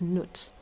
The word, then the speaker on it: Nut: The first one is Nut. Nut. How do you spell that?